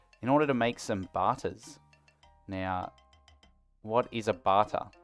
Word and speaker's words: Batta: calling it that because it ends in b-a-t-t-a similar to ciabatta like the type of bread and so hopefully that's how you pronounce it i'm going to start